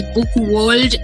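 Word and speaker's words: Book World: पर वही बात है जो अंकित जी ने बोली कि, और पुनीत जी ने भी बोली कि बुक वर्ल्ड है, वो एल आपके प्रोनाउंसिएशन में आया ही नहीं।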